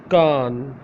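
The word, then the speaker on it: کان: Kan, Kan. In Urdu Roman, K-A-A-N. Kan. In original Urdu, Kaf, Alif, Noon. Kan, Kan, Kan.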